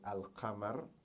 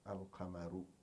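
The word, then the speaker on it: القمر: Example: al-qamar, the moon. Al-qamaru, the moon, is pronounced al-qamar, al-qamaru, al-qamaru. There's no changes there.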